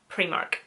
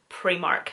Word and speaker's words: Primark: It's just the way us Northern Irish people call Primark. I know it is spelt with an I, we call it Primark, you lot probably call it Primark.